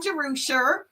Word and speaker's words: Jerusha: So if you're joining me for the very first time, I'm Jerusha. That's how you pronounce it.